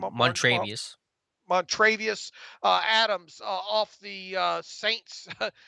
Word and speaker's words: Montravius: of not enough, them signing how do you pronounce his first Like name? Montravius.